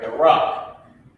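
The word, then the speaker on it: barak: All right, the rock. That's how you pronounce it. B-A-R-A-K.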